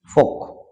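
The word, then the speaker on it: folk: Calf মানে বাসুর, এখানে ওয়াক এখানে এল সাইলেন্ট থাকবে। ফোক, ফোকেরও এখানে এল সাইলেন্ট থাকবে।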